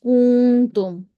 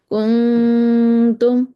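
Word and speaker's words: كنتم: incorrectly by some as کنتم، وہ اخفا کرنے کی بجائے کو لمبا کر دیتے ہیں، ہم نے کنتم نہیں کہنا، کو لمبا نہیں کرنا، واو نہیں اندر ڈالنی، کنتم، تا کے مخرج پر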